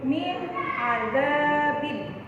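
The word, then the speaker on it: مِنْ عَذَابٍ: Ini ada nun mati bertemu dengan ain. Bacanya harus jelas. Min azabin. Min azabin. Tidak boleh kamu baca min azabin, salah.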